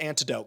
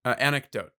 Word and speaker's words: anecdote: I remember one time small um I'm going to call it antidote because I can never pronounce the correct word for a short story. What is it? Anecdote. Anecdote. Anick. I always forget the ick.